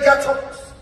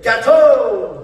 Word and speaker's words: gâteau: In France, we do not say gattox. In France, the X is silent. We say, gâteau. I went, gâteau.